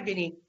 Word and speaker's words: Vinnie: Is it Vinley or Vinny? I go by Vinny. Yeah, Vinny.